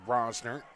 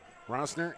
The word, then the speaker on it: Roesner: It is, in fact, Roesner. So we will be going with the correct pronunciation here moving forward. And also Matthias, not Matthias. So Roesner and Matthias, we got it.